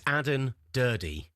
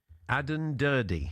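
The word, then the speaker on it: Aden Durde: So what's the proper pronunciation of his name? It's Adden Durdy. Adden Durdy. Yeah, so you do the pronounce the E on the end.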